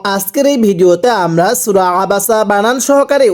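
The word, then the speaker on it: عبس: জবর বা জবর বা আবা সিন জবর সা আবাসা এই আইনটা উচ্চারণের সময় গলার মধ্যে হালকা চাপ দিয়ে পড়তে হবে পড়ুন আবাসা আবারো আওয়াজ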